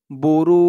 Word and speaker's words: বুরুজ: তো জিমটাকে একটু ধাক্কা দিয়ে পড়তে হবে। উচ্চারণটা কেমন হবে খেয়াল করে শুনুন, বুরুজ, এরকম।